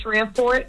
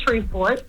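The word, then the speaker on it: Shreveport: Because when he came down here for Human Harmony weekend, he's been pronouncing Streetport, Louisiana wrong since then. It's not Shreport. It's Shreport.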